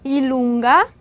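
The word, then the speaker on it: i lunga: 일룽가, 예, kappa, W, X, Y 이렇게 읽게 되는데 예, J를 기본 즈 발음으로 생각을 하지 않고 반모음처럼 생각을 해요.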